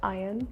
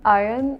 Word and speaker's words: iron: people would say irony what about the word without the r like the iron iron and iron like it's almost the same I didn't know that